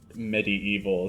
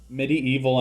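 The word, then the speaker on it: MediEvil: watching Medieval 2 now some people might pronounce it medieval too but it's like spelled in such a way where it's a pun on medieval and the word evil so I like to pronounce it Medi evil so that the pun comes across I don't know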